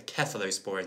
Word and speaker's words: cephalosporins: the cephalosporins uh sorry the kefir those borons is how you pronounce that is another group in